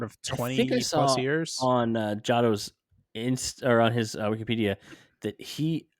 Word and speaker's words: Jado: How do you pronounce their names? Jado? Gedo and Jado.